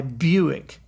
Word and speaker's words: Buick: And could anybody explain to me why Buick doesn't rhyme with quick? B-U-I-C-K, Q-U-I-C-K. B-U-I-C-K, Q-U-I-C-K. Buick, quick. It doesn't make any sense.